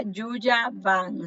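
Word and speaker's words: Yuja Wang: La pianista que tocaba era Yuya Wang. Se escribe Juja Wang, W-A-N-G.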